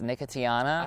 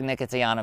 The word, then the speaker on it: Nicotiana: bronze Queen the Oceana now I have heard it pronounced from Oceania I have heard it pronounced nicotiana I like that one better I like nicotiana better that's way more fun to say it sounds like a